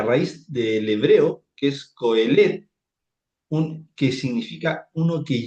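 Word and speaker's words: קהלת: Por ejemplo, en hebreo no no se pronunciaba el clciastés, se pronunciaba coelet, ¿cierto?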